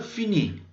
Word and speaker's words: finis: Solo son letras que, por ejemplo, en los primeros casos no se van a pronunciar y luego en el último caso, los tres últimos, es una forma especial.